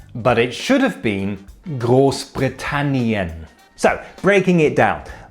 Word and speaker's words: Großbritannien: manage to misspell gross Branan coincidentally Radcliffe also mispronounced it he said britan but it should have been gross britanian so breaking it down V Camp means election